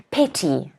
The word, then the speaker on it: petty: Petty. Stress again on the first syllable, petty.